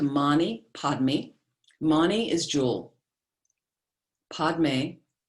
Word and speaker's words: padme: padmi mani is jewel padme sometimes the print tibetans pronounce pemei is lotus lotus and